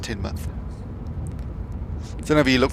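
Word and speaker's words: Teignmouth: Neil at Tinmouth. Spelled Tinmouth, but it's pronounced Tinmouth.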